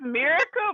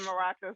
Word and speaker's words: Miracle: Is it It's miracle, but everybody say Maraka, so it's both.